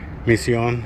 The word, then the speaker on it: misión: Misión, as you can see, is in Spanish with one S, and that accent, misión, instead of misión or misión, it's misión.